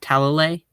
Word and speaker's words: Talalay: It appears that the director for these specials, Rachel Talalay, I believe that's how you say it.